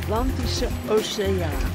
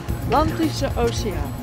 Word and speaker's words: Atlantische Oceaan: How do you say the Atlantic Ocean Atlantische Oceaan. Oceaan. Oceaan. Atlantische Oceaan.